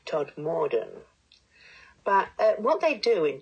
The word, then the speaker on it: Todmorden: pursue an edible townscape except of course he pronounced Todd midden Todmorden but what they do